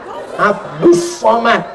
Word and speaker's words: Abdul Somad: kalau ini Abdus Somad tulisannya Abdul Somad tapi cara bacanya Abdus Somad jadi tulisan itu enggak mesti sama dengan bacaan Oh masa begitu lihat